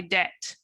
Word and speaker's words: debt: can write off the debt. To write off debt. careful with the pronunciation of debt. There's a silent B. So he wrote off my debt.